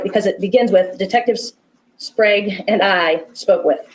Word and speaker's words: Sprague: I always say his name wrong. What is It's it? okay, it's Sprague. Sprague.